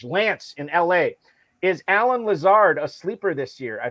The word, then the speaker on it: Lazard: he talked about alan lazard he always pronounces his last name lasard instead of lazar and i always think